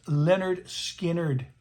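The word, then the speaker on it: Lynyrd Skynyrd: Pronounced Leonard Skinnard.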